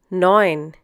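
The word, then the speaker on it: neun: act 9 once again knowing in this case e u is pronounced like oh I for example in oil in English sin once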